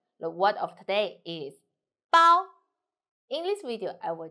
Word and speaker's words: 包: The word of today is 包. In this video, I will teach you how to pronounce it, how to write it, and how to use it.